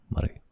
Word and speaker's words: Murray: It sounds like you said muddy or something. So, can't roll your R if you want a peaceful life. If you just want a peaceful life in North America, you can't roll your R, mate.